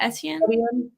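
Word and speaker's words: Étienne: Etienne? Yeah. You're right. You're just like pronouncing it slower than needed.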